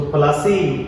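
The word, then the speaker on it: Plassey: Battle प्लास नाम का गांव था। प्लासी वो बेसिकली इंग्लिश प्रोनाउंसिएशन है, इसलिए इसको प्लासी कहते हैं।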